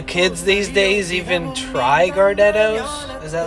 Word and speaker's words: Gardettos: she was like, "Ooh, Gardettos." and she like pronounces the T like with an emphasis on the T. And I thought that was wild because I've never heard somebody pronounce it that way.